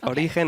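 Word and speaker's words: Origen: both way are fine Oran is how you say it in Spanish so you actually say like if you were a Spanish person but origin is how you would say it if you were not a Spanish speaker but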